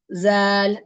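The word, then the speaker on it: ذال: Z will be the Z will be written as z a a l but in pronunciation there's a slight change here okay the there you have to use your tip of the tongue and then it should touch the upper Central incises and then it will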